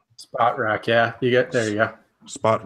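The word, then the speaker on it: Spotrac: Spot Track. Spot rack. Yeah. There you go. Spot Rack. Fantastic. Thank you for that. I'm just kidding. I had no idea. I'm almost positive it is Spot Rack.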